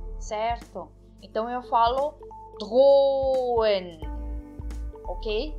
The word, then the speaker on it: drohen: Então, eu não pronuncio o H. O H serve apenas para separar a vogal O da E, ok? Então, eu não pronuncio o H. Eu falo drohen.